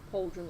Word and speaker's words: pauldron: Pauldron isn't cauldron. Yeah, What? normally. I think How do you spell it? Pauldron. Oh, so like cauldron. Like cauldron, yes. Pauldron is in cauldron, yes.